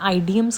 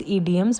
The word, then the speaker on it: idioms: कुछ लोग इसको प्रोनाउंस करते हैं आइडियम्स करके। बट the correct pronunciation is इडियम्स। सो आई am here with 10 daily use इडियम्स which you can easily use while कन्वर्सेटिंग with someone.